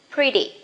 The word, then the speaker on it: pretty: You can say pretty, but remember T, that is not stressed. You can pronounce as soft D. Pretty.